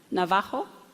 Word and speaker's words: Navajo: artwork which is Navajo arches at the right pronunciation Navajo Navajo it's not a home and her artwork